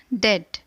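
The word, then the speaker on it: debt: है है दैट इस वर्ष में बीच साइलेंट है इसलिए उस वर्ड का प्रनंसीएशन होगा डेट मतलब कर्ज या उधार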